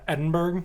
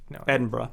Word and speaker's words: Edinburgh: like no it's actually pronounced glasgow um like americans say like uh edinburgh but it's like edinburgh yeah it's edinburgh yeah uh so yes edinburgh